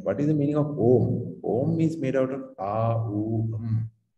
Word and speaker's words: Om: The 5 sacred syllables. Right? What is the meaning of Om?